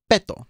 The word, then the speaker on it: Beto: Beto ends in a vowel. So the emphasis goes on the second to the last syllable. So that means it's Beto, not Beto. So it's Beto.